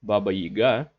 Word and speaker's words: Baba Yaga: it or not also baba yaga or as in in russians pronounced baba yiga she lives in a